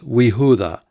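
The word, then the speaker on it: וִיהוּדָה: Before a yod with a vocal schwa, it is we. Wow, hirik yod. Now, this would have originally been Yehuda with a vocal schwa there, but when you add the conjunction, the vocal schwa disappears and it simply becomes Wehuda and Judah.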